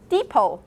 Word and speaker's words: depot: famous store that's called office d no t depot yeah it's a station building and do you